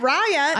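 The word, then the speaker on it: Raya: met on reaya yeah and how do you say it Rya Rya I have no idea it's spelled r a y a I've heard both so I'm not sure okay so eron you say Rya but Rya would be Rya what Rya would be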